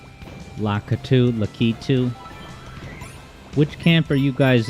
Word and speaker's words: Lakitu: When I was growing up, I called him Lakutu, which was wrong.